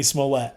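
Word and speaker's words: Smollett: journey journey journey journey smolette smolette that's how you say it but yeah that's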